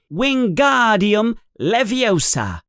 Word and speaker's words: Wingardium Leviosa: You're saying it wrong, says Hermione in an impatient voice. It's wingardium leviosa. You emphasize the gar.